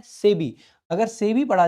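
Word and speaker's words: SEBI: नहीं बताएंगे एक बार सेबी की स्थापना कब करेगी थी भाई ठीक है तो इसको भाई इंडिपेंडेंट प्रोनाउंस नहीं करते इसको हम से भी पढ़ते हैं क्या पढ़ते हैं सेबी नाबार्ड ये जो ऐसी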